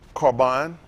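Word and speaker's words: Corban: let's see what happened carbine carbine is how they say pronounce it something brought near the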